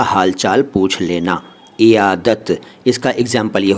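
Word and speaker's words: عیادت: बारे में पहले इयाद इसको अनेक लोग अयादत कहते हैं लेकिन सही उच्चारण इसका इयाद है उर्दू में अरबी से आया है और इसका मतलब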